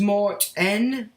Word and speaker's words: Martin: So that's the boy's name, Martin, is pronounced Mart-N.